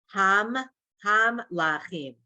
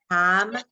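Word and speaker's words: המלכים: Hamlachim. I'm so Right. sorry. I made a Made mistake. the here. same mistake. Yes, here. Hamlachim. Hamlachim. 3 syllables.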